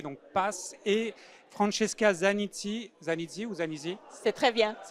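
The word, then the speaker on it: HR Path: Donc je le rappelle, Associate Partner chez HR Pass, il faut le prononcer en anglais, donc Pass, et Francesca Zanizzi, C'est très bien.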